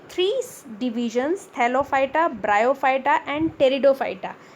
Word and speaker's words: Pteridophyta: Cryptogamy is further divided into three divisions: Thallophyta, Bryophyta and Pteridophyta. P is silent here. So this is Thallophyta, Bryophyta and Pteridophyta.